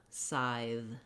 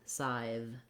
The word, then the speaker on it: scythe: And then finally add your voiced TH sound, th, scythe, scythe. Now that's not always easy for people to put that th on the end. We also have that voiced th sound in words like breathe and seethe. Seethe and scythe are actually fairly similar, with seethe just having the E vowel instead of the I vowel.